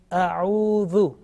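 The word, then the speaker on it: أعوذ: This is the first word which is commonly mispronounced. Say a'udhu.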